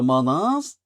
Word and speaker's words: manas: And how would we pronounce the mas? The manas.